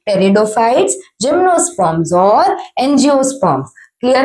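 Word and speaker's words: Pteridophytes: था वो क्या थे टेरिडोफाइट्स पीस साइलेंट है बेटा टेरिडोफाइट्स नहीं क्या है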